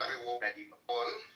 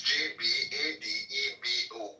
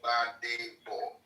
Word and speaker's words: Gbadebo: My name is Gbadebo. Badebo. Just 3 syllables. Badibo. 3 syllables there. Badebo. Badebo. It means bring back the crown. Yes. Bring back the crown. The G is silent.